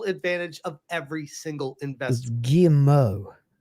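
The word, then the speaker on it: Guillemot: of every single investment G Mo you don't pronounce T's in French at the ends of words with this deal it's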